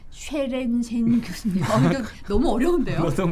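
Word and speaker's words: Sørensen: 쉐렌센 교수님. 이거 너무 어려운데요. 어떤 분이 비르게르 뭐라고? 라고 자 다시 한번 시원하게. 앵거스 달글리시 그리고 비르게르 쉐렌센. 예. 쉐렌센. 예. 쉐렌센. 다르네요. 북유럽 쪽 발음입니다.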